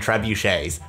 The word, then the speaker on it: trebuchet: play pack catapults and trebuchets let's get started whoa trebu what from french and often pronounced trebuchet is just a type